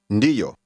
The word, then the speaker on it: ndiyo: Ndiyo. Yo. Ndi. Ndi. Ndiyo. This word begins with an ND sound, as in the English word bond.